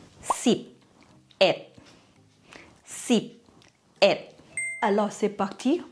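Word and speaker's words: สิบเอ็ด: Par exemple, 11 se prononce sip, et.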